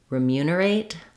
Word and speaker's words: remunerate: and the eight syllable so even though we have the clear vowel in the at at the end remunerate we don't want to stress on it often times I hear